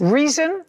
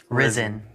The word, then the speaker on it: Rizin: Reason? Risen. Risen. Spell it. RIZIN space athletics.